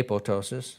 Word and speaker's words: apoptosis: Apoptotic bodies, apoptosis or apoptosis, depending on how you want to pronounce it, I've heard them all. I say apoptosis, that's my preference.